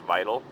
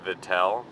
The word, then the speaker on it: Vital: at me I'm stupid it's v t a l which would be pronounced vital but it's vitel because I'm guessing it's French which I never really